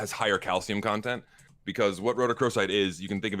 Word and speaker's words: rhodochrosite: I can return with my favorite mineral, and it's a rhodochrosite, which is manganese carbonate.